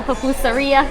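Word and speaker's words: pupusería: and find your local papoosa riya is how you say it or salvadorian restaurant or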